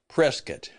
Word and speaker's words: Prescott: that, of course, uh, we call it Prescat.